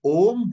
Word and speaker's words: ओम: शब्द नहीं बोलेंगे, तीन साउंड से बना हुआ है। एक है अ, एक है उ, एक है म। अब आप देखिए कि ओम का उच्चारण कैसे होता है, इसी के अंदर पूरा राज है।